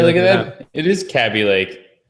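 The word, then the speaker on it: Kaby Lake: processors rose at the cabbie Lake crabby Lake cabbie like yeah it's close enough how you pronounce it crabby leg there's no R what there's no R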